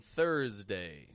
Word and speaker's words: Thursday: going to throw in Thursday. So now this list is 6 words long. Thursday. Wednesday and Thursday. S in both of these words sounds like a Z.